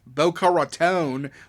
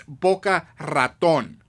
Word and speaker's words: Boca Raton: Well, uh, Billy Bob, why the do you pronounce boca raton like a It's bokea raton, you know? It's a Spanish word, you know, or you know what I mean?